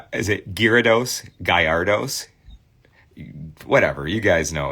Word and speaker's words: Gyarados: Johnny says the Y is silent. Gyarados.